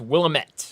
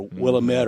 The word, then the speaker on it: Willamette: What I've heard is it's Willamette.